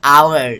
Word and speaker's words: hour: you uh like our it sounds like a hour like the H is silent so O is a